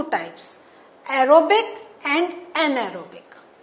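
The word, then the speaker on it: anaerobic: बस आपका इन दोनों में क्या करना है? इसमें आपको एक एन प्रोनाउंस करना है, फिर एरोबिक आ ही जाएगा. एन एरोबिक.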